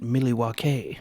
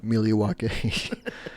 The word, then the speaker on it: Milwaukee: and they actually pronounced it millie wakey yeah millie wokey he's like does this